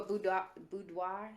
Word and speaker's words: boudoir: i really wanna do a buddha boudoir that's how you say it i want to